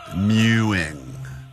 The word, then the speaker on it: mewing: Mewuing would be the proper uh pronunciation of that. Mewing.